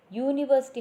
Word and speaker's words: university: And when EU is pronounced as YOU, then also we have to use article A before that word. So here one word is given. What is that? University. University, how we are pronouncing it?